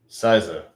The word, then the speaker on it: SZA: Siza, got it. Like size, okay, like Siza, okay, like size.